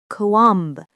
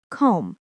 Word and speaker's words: comb: Not kam. Just comb. One soft sound.